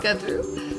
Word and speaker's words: Gouthro: Gouthro. You got to drop the U.